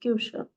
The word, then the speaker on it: Küche: Now for kitchen, there is a word called Küche. K-U, U with umlaut, C-H-E, Küche.